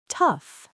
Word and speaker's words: tough: We say tough.